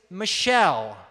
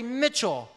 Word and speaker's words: Michell: Now, my last name is Michelle, like the name of a girl. But some people mispronounce it and say Mitchell.